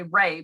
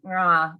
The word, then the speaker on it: Ra: It's not like, oh, if I see and like, oh, it says Ray, so I say Ray, but it's really pronounced Rah, or, you know, like